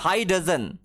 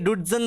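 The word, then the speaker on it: high dudgeon: DUDGEON, হাই ডজন, ইন হাই ডজন, অনেকে ডুডজন বলে, এটার প্রোনাউন্সিয়েশন হয় হাই ডজন, হাই ডজন, ঠিক আছে?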